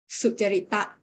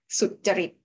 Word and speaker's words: sucarita: Firstly, I might tell you that Thai language is not used to the word with continuous light syllables. So the word here, sutarita here, we Thai pronounce it as sutarit.